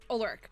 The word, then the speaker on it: Ulrich: Fairchild, the Squirrel, and ULRICH, who hopefully I'll learn how to actually say his name. I'm pretty sure the CH is like a K sound, but words are hard.